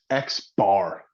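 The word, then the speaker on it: x̄: And then for our sample mean, we have this variable here, and this is pronounced X bar.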